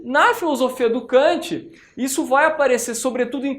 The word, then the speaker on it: Kant: à filosofia de Emanuel Kant ou em alemão pronúncia cant não é eh em